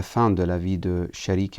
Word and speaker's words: Sharik: de la vie de Sharik ibn al-A'war, ou certains le prononcent Shuraik ibn al-A'war, et la deuxième personne, Han ibn Urwa, et troisième personne, Muslim ibn Aqil.